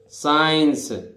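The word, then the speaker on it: science: देखिए ना तो य जैसे साइंस है ना साइंस सी का उच्चारण नहीं होता है देखिए साइंस सी उच्चारित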